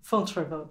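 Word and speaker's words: Fontevraud: But if there's one heart to it all in these later years, it's this place Which you'll pronounce for me. Fontrevaux.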